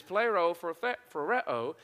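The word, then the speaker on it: πληροφορέω: It's actually this word, and I don't say it very well, but plerophoreo, okay? I'm from South Arkansas, so it's very hard to pronounce Greek. So it is plerophoreo, and what that is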